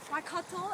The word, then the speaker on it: Waikato: Waikato, if you want to be pronunciation it right.